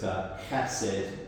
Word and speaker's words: chesed: So to look into the Old Testament, there's this word, it's chesed, or hesed, I struggle to pronounce it.